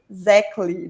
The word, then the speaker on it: exactly: É exactly, né? Não tem esse tli no final.